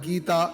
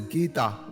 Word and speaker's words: Gita: 18 chapters or Adias pronounced not as gaita with a short I but as Gita with a long e goal or